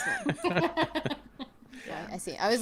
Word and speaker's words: Haarsma: pronounce. Haarsma. Yeah, I see. I was like, what the hell are you spelling? That doesn't spell. Lols. Haarsma.